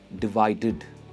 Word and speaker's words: divided: इसकी प्रोनाउंसिएशन है डिवाइडेड, डिवाइडेड। Similar है मैनेज की तरह, एंड में ईडी है तो आप हेड करके एंड का साउंड आता है और एड नहीं आता है।